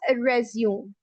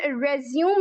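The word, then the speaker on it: résumé: ठीक है, इसके बाद एक वर्ड मौजूद है हमारे पास रेज्यूम। एवरीवन, इसकी प्रोनाउंसिएशन रेज्यूम नहीं होती, इसकी प्रोनाउंसिएशन रेज्यूमे।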